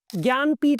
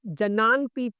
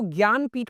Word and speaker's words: ज्ञानपीठ: ज्ञानपीठ award एक ऐसा award है कि सबसे पहले आपका यह कंफ्यूजन होगा कि इसका जो स्पेलिंग है वो ज्ञानपीठ नहीं है। जनानपीठ के जैसा आपको लगेगा पढ़ने में क्योंकि जे से स्टार्ट होता है।